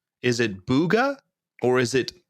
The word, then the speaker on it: Bugha: booga or is it bugger so proper pronunciation might be bugga but i i always go buga because whenever i think of his name i think of courage yup yelling out his name oh god so like